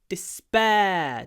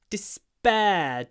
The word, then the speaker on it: despair: next word don't despair this word begins with a du but the first syllable is not stressed so there's no pause before the the duh here we get the pause before the P don't don't dis don't